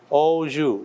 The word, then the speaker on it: au jus: One is this thing called French word, au jus. Au is pronounced like O. Okay?